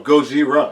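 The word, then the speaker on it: ゴジラ: do you say the actual Japanese way oh goira goira okay was really wasn't trying to be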